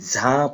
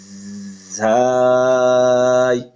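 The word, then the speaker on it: ز: এই হরফটি আমরা অনেকে ঝা পড়ি, কিন্তু এটা শুদ্ধ উচ্চারণ হবে ঝাই।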